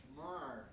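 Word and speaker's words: Ja'Marr: Jamar.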